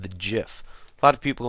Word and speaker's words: GIF: a new graphics format and that's called the GIF a lot of people like to call it gif but the official pronunciation is GIF I personally might call it